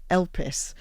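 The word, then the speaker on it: elpis: in ancient Greek is elus. So which I always think is like when I when I learned it was like help um you know with a silent h.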